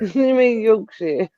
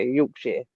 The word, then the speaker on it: Yorkshire: Joseph Yorkshire Yorkshire said your version your version sound better because when I say it just sounds stupid yeah yorksh you said yire Mak